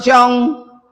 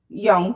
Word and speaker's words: Jung: And I spent some a lot of time reading the works of Carl Jung, the Swiss psychologist and psych analyst and young.